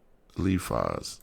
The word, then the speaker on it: Eliphaz: Eliphaz is what I'm saying. Eliphaz. Well, I'm saying it right.